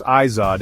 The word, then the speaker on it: Izod: The ISOD, pronounced ISOD impact test, is one of our main contenders.